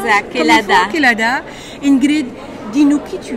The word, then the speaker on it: Kelada: C'est comme ça se prononce? Exact, Kelada.